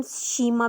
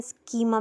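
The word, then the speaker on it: schema: में आ चुकी है इसे हम शीमा भी कह सकते हैं स्कीमा भी कह सकते हैं तो डिफरेंट इसके प्रोनाउंस सशन है तो आप इसे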